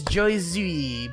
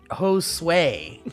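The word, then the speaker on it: Josué: It's Joyzui. By the way, Josue is how you say it. It's Spanish for Joshua.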